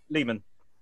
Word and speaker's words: leman: I ask, how would you like me to pronounce the lemon word? Second line. Lehman. Okay. Yeah, you could do it as lemon, but it's just yes.